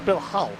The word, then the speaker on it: Bill Hull: Keeping an eye on Bill Hill. He's trying to run it out for Bill Hull. I think I've been calling him Hill all race.